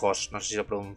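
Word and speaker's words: Höss: a día de Rudolf Hos pronuncio así, ¿ves? en alemán con dieris en la lado y dos eses que fue un comandante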